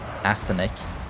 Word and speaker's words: Astonic: It's not Astonic or Astonic. It's Astonic, right? Like astonishing. I guess that's the word that he came up with. Like he altered that word, astonishing. An interesting.